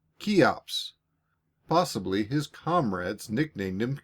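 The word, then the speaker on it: Cheops: spelled c h e o p s and pronounce keeops possibly his comrades nicknamed him key when they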